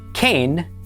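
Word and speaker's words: כֵּן: Altogether this is pronounced canain. Kain means yes.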